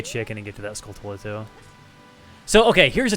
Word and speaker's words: Skulltula: on the d-pad so skulltula is pronounced skulltula this is confirmed everybody pronounces it like that there's like no debate on how you're supposed to pronounce it but i think the original pronunciation was supposed to be sculptura like tarantula i'm pretty sure and like that just got like nobody realized it at the time but that's my theory i'm pretty sure that was the intended pronunciation of the word okay did the frugs